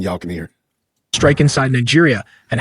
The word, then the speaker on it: Niger: Niger Republic, rather, not Niger State, Niger Republic. Sorry, this guy it may look like Niger, but it is pronounced Niger because it is French.